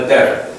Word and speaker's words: debtor: Borrowing the money, he was making himself a debtor. It's almost like it's D-E-T-T-O-R, debtor.